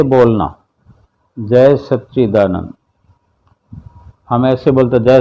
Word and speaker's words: सच्चिदानंद: हुए उसी को उसी तरह से बोलना, जय सच्चिदानंद। हम ऐसे बोलते जय सदानंद, जय सन, जय सच्चिदानंद, जय सच्चिदानंद, यानी शुद्ध वाणी में।